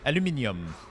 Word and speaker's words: aluminium: Aluminum and aluminium. Yeah, they're just two different, you know, way to write them and pronounce them. You put the stress in a different place, I think.